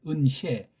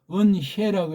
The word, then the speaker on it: 은혜: 소리 해서 이게 은해 은혜라는 말을 정확히 발음하면서 교회에서 찬송 부리는 사람 100명의 한 명 천명의 한 명이 있겠습니까 없겠습니까 그냥은은은 해로 발음해 해 아니 해랑 해가 이게 이거 해는 바람 빠진 소리예요 은혜 빠진 소리라고 요 은혜라고 해야 돼 은해 은해 그러면 거기